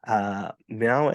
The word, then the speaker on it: Mèo: Mèo and Bay. How did I do with the You pronunciation?